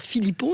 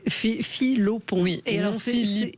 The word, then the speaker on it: Filopon: je vous disais qu' je m'appliquais pour pas dire Philippon et vous dit tout le monde fait la faute oui souffert et j'ai toujours dit à ma sœur un jour on prononcera bien notre nom de famille tu verras Jessica j'ai toujours dit ça filopon ouais et les noms viennent